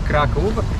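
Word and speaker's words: Kraków: By the way, that's how the name of the city is pronounced in Polish, Krakow.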